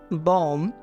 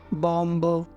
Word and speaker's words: bomb: नहीं करते हैं, इसको हम बोलते हैं कॉम, बॉम, थम, डम, ना कि कॉम्ब, बॉम्ब, थम्ब, डम्ब।